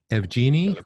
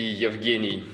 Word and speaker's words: Yevgeny: Evgeny, or can you pronounce? Hello. The closest you can pronounce is fine, but the proper would be Yevgeny.